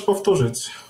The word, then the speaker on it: powtórzyć: Czy możesz powtórzyć? Oj! A bit slower, please. Sorry. Czy możesz? Możesz? Czy możesz? Powtórzyć. Powtórzyć. Powtórzyć. Powtórzyć. Powtórzyć. Oh, W is V.